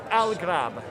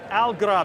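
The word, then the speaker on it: Al-Ghurab: Al-Grab. Al-Grab, and what does that mean? So it comes from the Arabic word for crow.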